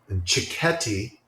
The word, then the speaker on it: cicchetti: It's spelled really strangely. It's Cicchetti, cicchetti, and I love that we're both writing that down.